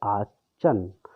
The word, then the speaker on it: Aachen: This is pronounced as Aachen, to stay with our grandmother.